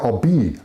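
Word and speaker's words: Obey: The Obi, or yeah, Obi, yeah, pronounced Obi River. Yeah, it's pronounced Obi River, which is part of the lake.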